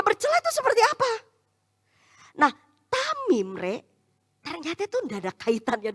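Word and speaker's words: תמים: Dalam bahasa Ibrani kata tidak bercela itu dibacanya tamim.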